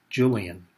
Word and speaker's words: Yulian: And at the time we lived in Germany, where the Y's are pronounced like J's, and the J's like Y's, and hence the spelling of my first name, Yulian, pronounced Julian.